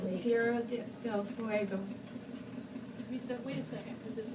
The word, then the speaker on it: Tierra del Fuego: Tierra de Fuego. I hope I pronounced that right. Fuego. Tierra del Fuego.